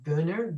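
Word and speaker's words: Buehner: a felony mark i'm going to destroy the pronunciation booner b-u-e-h-n-e-r he and his wife so he's the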